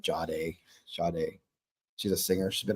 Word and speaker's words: Sade: Jade? No, not Jade. Sade.